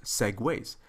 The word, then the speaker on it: segue: the different scenes are connected using something called Segways and I've tried to fanatically break this down because I heard some mispronunciations of this term it's pronounced Segways and that's very much like of course the